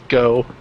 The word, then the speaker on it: Geaux: Louisiana all the time, like EAUX is just O. Like, what is it that people always say on Facebook? It's like, Go Saints, but they spell it Geaux. Go.